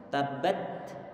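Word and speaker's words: تبّت: Ini kalau ini perlu berhati-hati di antara kesalahan ataupun kekurang tepatan dalam memberikan hamas. Itu adalah di saat setelah pengucapan huruf ta-nya kita berikan hamas dengan menggeser makhraj, sehingga nanti yang terdengar adalah menambahkan huruf sin. Enggak boleh begini.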